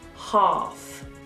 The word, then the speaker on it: half: In certain words like bath, past and grass, we pronounce the A as an R. Like you're an opera singer. Ah! Or you're at the dentist. Ah! Bath, grass, half. Do not be tempted to do a sound.